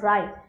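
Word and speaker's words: wry: जिसको डिस्क्राइब किया गया इस वर्ड से राय we pronounce it एस राय what does this mean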